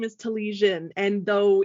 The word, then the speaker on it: Telizyn: so my background is ukrainian um and so talishin is is how you pronounce it so infinity design based on a